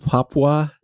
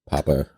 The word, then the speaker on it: Papua: to the east of Papua New Guinea papa no it's Papua I think it's not pronounced Papa it no are you